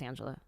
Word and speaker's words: Anjelah: spelled so weird, so they try to make it real ethnic, and I go, oh no, it's just Anjelah.